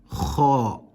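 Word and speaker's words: خ: It is pronounced as if your mouth is full.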